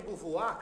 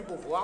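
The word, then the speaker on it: Beauvoir: um empregada você precisa ler Simone de buvar caros Simone de bovar Olha a pronúncia bovar você comç suar eu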